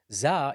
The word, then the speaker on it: ز: Za is pronounced just between the two incisors. When you put the tip of the tongue between the two incisors and slightly close to the lower incisor.